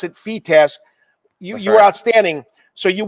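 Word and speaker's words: FITASC: Open, it's the second biggest tournament every single year, and for the FETASC event, I won both the junior and the open concurrent.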